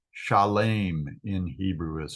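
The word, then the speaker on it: שלם: We already said it's Shalem. Shalem in Hebrew is how it's pronounced. Salem in English. So Shalem, it's like an SH sound at the beginning.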